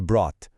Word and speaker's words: brought: O ponto crucial aqui é na hora de falar, o som do GH some completamente. A pronúncia é brought, como se a palavra terminasse no som do T.